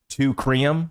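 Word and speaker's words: Teucrium: So I just think of the the number two treum. That's how it's pronounced.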